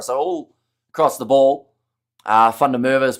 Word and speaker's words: van der Merwe: I think van der Merwe is pronounced van der Merwe, says Ruben.